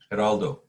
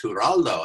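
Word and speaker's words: Geraldo: Heraldo. Haraldo. So he says I said, "Hi Gerald." He said, "No, it's Huraldo."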